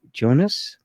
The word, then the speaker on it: Jonas: My name is pronounced as AKA Jonas. Jonas. Jonas in the Bible.